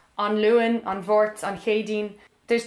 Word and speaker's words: Luan: I said, oh, you can also say An Luan, An Mháirt, An Chéadaoin.